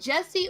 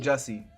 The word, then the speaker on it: Jussie: Is it Jesse or Jussie? How do you pronounce that name? Jussie.